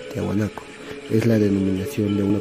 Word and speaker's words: Tiahuanaco: La cultura Tiahuanaco se pronuncia Tiahuanaco.